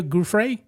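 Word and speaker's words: Giuffre: Uh, Virginia Gruff, that's the way you pronounce her name.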